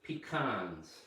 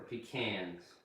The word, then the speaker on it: pecans: And these are pecans or pecans. You can pronounce them any way you want.